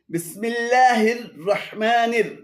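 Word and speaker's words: بسم الله الرحمن: এখানে বিসমিল্লাহ, হির রহ এবং মানির সবই ভুল উচ্চারণ। শুদ্ধ উচ্চারণ হবে বিসমিল্লাহির রহমানির।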